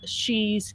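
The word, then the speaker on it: Sidhe: that's on Amazon the first book is called she's call that is spelt s idhe apostrophe s and the last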